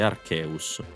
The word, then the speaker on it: Arceus: che vado a prendere Nicola vai Togliti Archeus devo andare in bici non rompere cazzo è